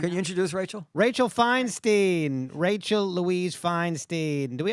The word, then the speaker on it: Feinstein: Fine is wine.